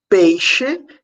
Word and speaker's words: peixe: vocês podem perceber que em sexo ou X tem som de KS peixe esse x né vai ter um som de ch de X próximo esse X tem um som desce e exame esse X tem som de Zé então é uma mesmo